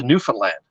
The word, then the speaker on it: Newfoundland: it gets turned into Newfoundland. And I would say new, fin, F-I-N, and then land.